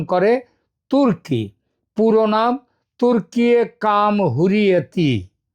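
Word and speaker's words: Türkiye: আবার এটাও জেনেছি একদা নামের উচ্চারণ হতো টার্কি। কিন্তু এখন উচ্চারিত হয় তুর্কি।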